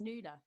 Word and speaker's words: Nuala: you wouldn't think it with a name like nawala but it is just because there's yeah in ireland it's kind of semi-common but it's always pronounced noodle there you go wow that's uh that's amazing